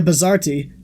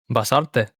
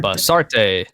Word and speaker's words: Basarte: Basarte. The Z is pronounced as an S and it's not T, it's T. Bazart. Basarte.